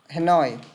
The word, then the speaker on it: Hanoi: Hanoi, Nói, trọng âm đưa về đằng sau. Hanoi, Hanoi.